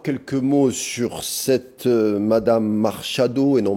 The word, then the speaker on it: Machado: Alors, encore quelques mots sur cette Madame Machado, et non Machado, je l'ai mal prononcé au début, c'est Marina Corina Machado.